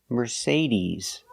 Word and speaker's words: Mercedes: we say Mercedes Mercedes the final sound is not s like Star it's Z like zebra Mercedes Mercedes put the stress on the second syllable Mercedes remember it's not Mercedes it's Mercedes 's a long e sound at the end ease ease Merc meres